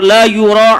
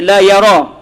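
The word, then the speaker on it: يُرى: Huwa bi dhammil ya. Maksud dia dibaca yu, bukan dibaca ya, bukan dibaca la yara.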